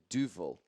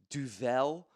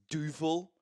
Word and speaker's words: Duvel: available at Tesco might I add is a Duval I hear some of y'all pronouncing this as Duvel or whatever it's Duval thank you I was I was once corrected